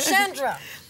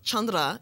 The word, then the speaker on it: Chandra: this is so cool Shandra your name yes where's the name your name coming from Shandra is um it's actually uh properly pronounced Chandra it's actually Sanskrit it's an Indian a name from India um and it means